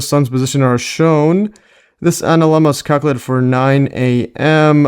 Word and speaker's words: analemma: And here's the pronunciation of it. Let's see this. Anma. Yeah. So, it's analemma.